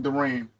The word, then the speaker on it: Durant: But I do need to see more from Durant.